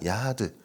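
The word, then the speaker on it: יחד: 여기서 날카롭게 하다라는 원어를 보니까 야하드 이렇게 발음합니다.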